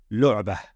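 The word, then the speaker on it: لعبة: the ta al-marbuta, but rather we would pronounce it as a ha and sukoon. Lu'bah. Lu'bah.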